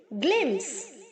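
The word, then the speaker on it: glimpse: Glows, glowing, ग्लिम्स, ग्लिम्स्ड, ग्लिम्स्ड. यहाँ पर P silent है बच्चों, तो हम P प्रोनाउंस नहीं करेंगे, ओनली ग्लिम्स बोलेंगे. ग्लिम्स, नो P.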